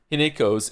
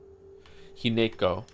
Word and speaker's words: Hinako: Hineko. Didn't they say Hinako at some point though? I remember it being pronounced without the ne.